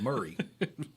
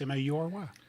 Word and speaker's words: Maury: I don't know if that's right, but I say Mary. Mary I've County. always said Murray. Yeah, that's okay. I guess I don't know. I couldn't spell it, probably. it's Maury. What? Maury. It's Yeah. got an A in front, Yeah. so the AU is M-A-U.